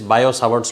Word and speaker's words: Biot: That is बायो-सावर्ट्स लॉ. You call इट एज बायो-सावर्ट्स लॉ. बायो में BIOT में T silent है and some people also pronounce इट एज बियो-सावर्ट्स लॉ. बोथ are fine.